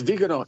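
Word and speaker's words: Viganò: Well, let's let's hope not if I get the I can never pronounce this right. It's Vegano, right? Oh, yes. Yes. Vegano.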